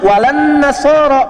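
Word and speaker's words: ولا النصارى: Cuman kita bacanya pakai kan alif lamnya syamsiyah tuh. Ya, lamnya masuk ke nun, walan nasara, padahal itu tulisannya la, wala an nasara.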